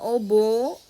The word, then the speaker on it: oboe: Spongebob gitu ya terus ada obo tulisannya oboe bacanya obo Lalu ada Saksofon dan